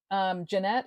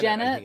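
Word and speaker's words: Genet: We also have something called, which I was not really familiar with, Jeanette. Is that what we're calling it? A Jeanette? Gannett? Janet, I think Janet. is how it's pronounced.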